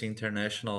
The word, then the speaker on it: international: is the odd part we have two inss in and inter in international sales okay 10 year experience